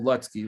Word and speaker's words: Lutzke: That's how you say it, people. Lutzke.